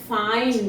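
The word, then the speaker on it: fine: अब फाइन में ये जो आई आया इसको हमने आई बोला, फाइन। ठीक है, वाइन में ये जो आई आया इसको हमने आई बोला, वाइन, माइन।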